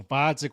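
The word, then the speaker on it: Gvozdyk: Instead, we get Vodzik with a silent G.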